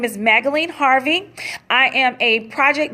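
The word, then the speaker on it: Magaline: again my name is magdalene like magazine instead of the z replace it with an L you have the pronunciation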